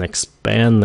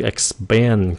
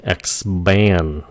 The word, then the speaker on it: expand: Cái chữ expand, cái chữ thường khi cái âm P nó đứng sau cái âm X, nó phát âm giống âm B lắm, nó tự tự giống âm B. Expand.